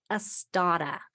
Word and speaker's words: Astotta: like I always do, but it is called Astada. So let me spell that.